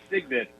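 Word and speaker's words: Cygnet: one page one has Signet a young swan and it's I the pronunciation is Si G nit so stigment okay go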